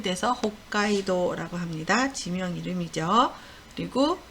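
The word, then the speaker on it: 北海道: 지도가 허 가까이도 이럴 때는 초봄 이 돼서 호 까이 도 라고 합니다 지명 이름이죠 그리고 북구 극복 표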